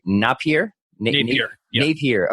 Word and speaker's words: Napier: Napier. Okay, like Jack Napier from the original 1989 Batman.